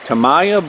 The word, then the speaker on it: Tamaya: to keep it from getting ripped how you pronounce that uh Tamaya yeah like Tamaya blue corn pancake mix 12 ounce bag whole